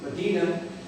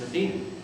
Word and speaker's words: Medina: If you were to take a look at the name Medina, the town of Ridgeway, this really, Medina, is the pronunciation in Saudi Arabia. You get Mecca and Medina, holy city in Saudi Arabia. The folks here pronounce it Medina.